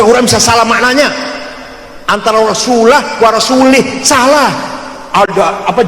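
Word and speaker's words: رَسُولُهُ: Innallaha barium minal musyrikina waasulih. Salah. Allah tidak melindungi orang musyrik dan tidak melindungi rasulnya. Rasulullah salah. Yang benar bacanya innallaha barium minal musyrikina wa rasulah. Jangan lih.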